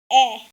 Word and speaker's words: 애: Then the next letter is e, which also makes the same sound like the word bed.